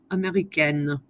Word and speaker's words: américaine: The only difference, you put an E on the end and you pronounce the next to last letter. Américain, américaine.